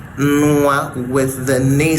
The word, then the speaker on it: nwa: So it's hard for people to say nwa with the ne sound. It doesn't work. Your pronunciation is going to go backward as it goes at the back.